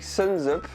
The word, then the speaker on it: Sunsup: Aujourd'hui, je suis avec Suns Up. C'est comme ça que ça se prononce.